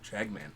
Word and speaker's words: Tragman: So it's Tragman. Tragman.